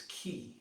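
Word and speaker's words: 気: in star wars very similar in japanese it's ki k.i and that's always described as this mysterious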